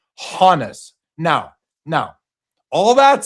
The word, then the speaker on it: Honus: My my point is that just because his original name out of Germany was Johannes does not mean without a re without a reasonable doubt that he pronounced it Hanis.